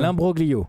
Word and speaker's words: imbroglio: Il y a l'imbrolio. Comment on dit ça ? L'imbroglio. C'est comme ça qu'on dit.